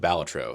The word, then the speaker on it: Balatro: I played on Steam Deck and Android, and after 44 hours in game, here's my review of Balatro. And yes, that is how it's pronounced.